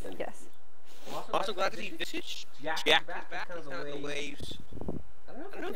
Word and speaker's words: Visage: I put a lot of effort into knowing how to pronounce the hero names correctly, and it's Visage.